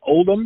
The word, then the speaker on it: Oldham: Is it Oldham? Is that how it's pronounced? Well, that's how it's pronounced. I was born in Oldham, but I lived in a place called Failsworth, which isn't far away.